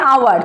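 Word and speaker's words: hour: তো সেই আওয়ার বানান হচ্ছে এইচ ও ইউ আর, কিন্তু এইচের উচ্চারণ কিন্তু হয় না, সেখানে উচ্চারণটা হয় আওয়ার।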